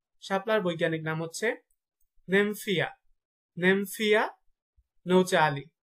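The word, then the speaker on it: Nymphaea nouchali: শাপলার বৈজ্ঞানিক নাম হচ্ছে নেমফিয়া, নেমফিয়া নৌচালি, নেমফিয়া নৌচালি।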